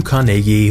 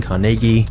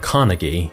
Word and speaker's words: Carnegie: Into abject poverty Andrew carnegi was born in Scotland which is the reason I'm saying carnegi instead of Carnegie because this is how the Scots actually pronounce it but Andrew's start in